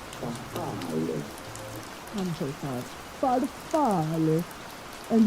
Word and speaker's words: farfalle: No, it's not farfalle, but rather farfalle.